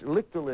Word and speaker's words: Lichtel: Lichtel. Happy to be here. Well, thank you. It's Lichtel it is pronounced.